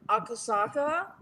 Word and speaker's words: Akasaka: I remember we were in Akasaka. Is that how you pronounce it, right? It's Akasaka.